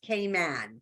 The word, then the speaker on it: Cayman: have been wondering why Cayman and if you haven't heard the little accent there it is pronounced k-man so just K and man is the actual way that we say Cayman Islands so why come and